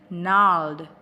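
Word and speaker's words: gnarled: do we pronounce it nod that G is a silent letter mas a small plant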